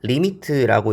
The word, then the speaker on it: lim: 자, 그래서 이 극한에 대한 기호를 어떻게 쓰냐면 LIM, 리미트라고 읽어요. 쓸 때 보통 뭐 요런 식으로 이렇게 씁니다.